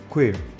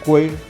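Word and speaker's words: queer: amplísimo Esto es lo que los americanos llaman queir vale se escribe q u e e r eh seguimos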